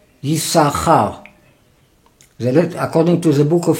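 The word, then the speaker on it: יששכר: In the word Yisachar, you have two letters, Shesh, Yisachar, even you don't pronounce the two shin.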